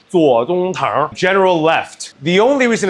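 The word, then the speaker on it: 左宗棠: The only reason it's called General Tso's chicken, and from now on, I want you to be able to pronounce the guy's actual name, Tso Tsung-tang, General Left.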